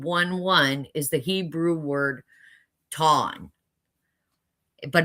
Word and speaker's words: tam: Now, the word perfect in Job 1:1 is the Hebrew word ton, but it's spelled T A M, but pronounced T A W N.